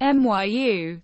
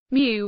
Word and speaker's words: Miu: She is older than she looks, 27, and her name is often mispronounced MYU by Nobu.